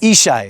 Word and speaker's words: Yishai: here okay Sor your name how is it pronounced isai ah isai okay isai okay I'm the spokesman